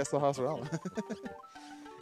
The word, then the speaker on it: Sahasrala: There's one of the sages, Shahashala, or however you pronounce Sahasrala. Name. Sahasrala. Yeah, Sahasrala.